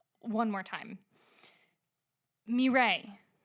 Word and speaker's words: Mireille: Mireille. How do you spell that? It's not going to help you. It's a French name. There are a lot of letters that don't need to be there.